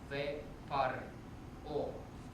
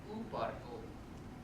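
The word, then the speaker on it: וּפַרְעֹה: Another example, ve par o, which is Pharaoh, would be u par o.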